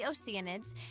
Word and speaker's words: Oceanid: went on a quest to search for the oceanids and eventually welcomed the hydro archon that's how you pronounce oceanid I keep forgetting it's one of